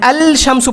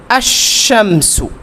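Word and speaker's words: الشمسُ: তখন কিভাবে বলবো এখানে আল শামসু বলা যাবে না কি বলা যাবে না আল শামসু বলা যাবে না এখানে বলতে হবে আশামসু কি বলতে হবে আশামসু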